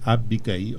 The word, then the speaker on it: Abigail: eu falava sobre a a pronúncia correta é Abigail Abigail né Abigail é